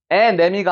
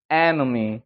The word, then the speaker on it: enemy: 에네미가 아니고 enemy. 그러니까 앞에 올라갔다가 뒤에 죽어버리는 거죠.